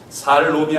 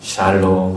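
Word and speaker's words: שלום: 하고 또 인사를 합니다 살롬이 아니고 샬롬입니다 발음을 정확히 잘하셔야 돼요 옆 분들에게 다시 한번 샬롬 하고 샬롬 그 우리나라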